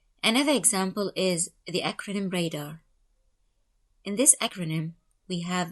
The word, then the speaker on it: radar: and are from ranging we pronounce this acronym as a word not as letters so we say radar not r-a-d-a-r another acronym is now